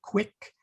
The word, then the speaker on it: qui: So we say quick, quiet. If you were to say the word who, which is QUI in Latin, it would be qui.